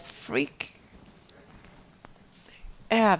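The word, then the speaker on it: freekeh: something freakin good crack freak pronounced freaka has more fiber than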